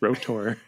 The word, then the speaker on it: R.O.T.O.R.: so and I'm glad it's pronounced rotor I know you say